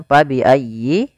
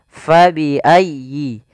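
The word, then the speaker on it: فبأي: sedikit fabiayyi di sini Fa harus dialirkan jangan sampai diganti dengan P jangan diganti dengan paabiayi ah jangan tapi kemudian dia bacanya dengan huruf F Fa fabiayyi kemudian padafal ya tasdid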